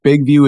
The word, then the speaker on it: BIGVU: And also, just really quick, Big View is spelled BIGVU. BIGVU, because I don't want people putting in VIEW.